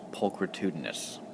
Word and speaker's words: pulchritudinous: In case you're wondering how to pronounce that word, it is pronounced pulchritudinous.